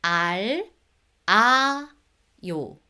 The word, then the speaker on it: 알아요: Imagine this, if there is a circle right after the bottom consonant, the bottom consonant carries on to the next one. So you guys need to pronounce it smoothly, right? I did mention it before. 알다. If you say it separately, each syllables, 알, 아, 요. However, when you say it together, that becomes 알아. 알아요, 알아요.